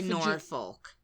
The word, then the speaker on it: Norfolk: And I think we say Norfolk. Norfolk. I think we say folk. Folk?